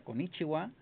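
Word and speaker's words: こんにちは: Pero en algunas terminaciones como konichiwa, se pronuncia konichiwa. Pero se escribe con ichi-ha.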